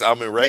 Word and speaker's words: Amun-Re: No, he pronounced his name correct though. It's Ray. It's Amun-Re.